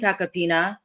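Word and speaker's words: Tacopina: I've been saying Takapina and it's spelled Taco Pina, and good to know that I'm actually not butchering the man's name.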